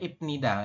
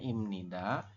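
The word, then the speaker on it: 입니다: bunyinya imnida ingat-ingat ya tulisannya inida Kak gini kita bacanya imnida artinya adalah ya oke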